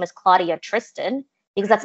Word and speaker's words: Claudia Tristan: But I think if you're bilingual and you have the skills to be able to pronounce it correctly, why not normalize that? Yeah. Why are we normalizing this anglicized version of our communities or of our own names? Like, I always say I'm Claudia Tristan.